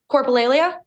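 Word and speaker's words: coprolalia: coolia is that how you pronounce it is pronounce it for me coralia yes so that is the medical term used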